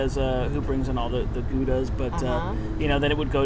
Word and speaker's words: Gouda: Because I know they carry a lot of the Goudas. Yeah. So interesting. Now, for those of you who don't know, if you truly are of the Dutch persuasion, you would pronounce it Gouda.